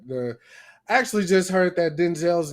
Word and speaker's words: Denzel: That the actually just heard that Denzel's name is not Denzel, it's Denzel.